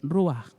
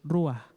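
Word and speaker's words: ruach: para espíritu perdón es rúa lo voy a repetir la palabra para espíritu es rúa ere o en español j porque pronunciamos la jota como un sonido en la garganta pero significa a rúa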